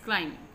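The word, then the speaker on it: climbing: अब फिर silent letter आ गए हैं, सना इज क्लाइमिंग, अब देखो बी इसमें साइलेंट है, क्लाइमिंग, Sana is क्लाइमिंग द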